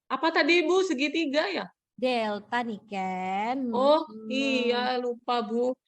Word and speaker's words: delta: Jika pertambahan panjang delta X. Delta ya Bu, segitiga Bu. Iya, yang segitiga itu delta bacanya. Jangan kayak kelas sebelah ya, itu bilangnya segitiga katanya. Kurang bagus itu ya.